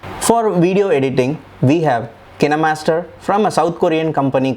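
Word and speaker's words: KineMaster: is from a'dope for video editing we have Cana master from a South Korean company called canna master corporations some pronounce it as kind master but the proper pronunciation is can a master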